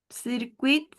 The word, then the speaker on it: circuit: Circuito, circuit, circuit, muy bien, sin la T.